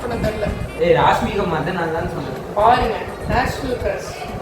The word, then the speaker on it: ராஷ்மிகா மந்தனா: உங்களை ராஷ்மிகா மாதமா இருப்பாங்க போல. அவங்க ராஷ்மிகா மந்தனா பேர் கூட ப்ரொனவுன்ஸ் பண்ண தெரியல. ராஷ்மிகா மந்தனா தான் சொல்றேன்.